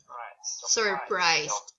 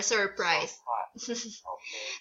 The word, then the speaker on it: surprise: there's an R okay you have to say the R sound surprised I'm surprised those forgetting the R